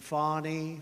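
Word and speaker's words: Fani: including local Das and local attorney generals and fonnie fonnie you know fonnie spelled f a n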